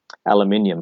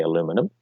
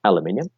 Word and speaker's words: aluminium: Aluminium face. Some people say aluminum, but let's be honest, aluminium. I literally can't even pronounce it that way.